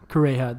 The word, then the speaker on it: Kureha: Kureha, that's how you say it.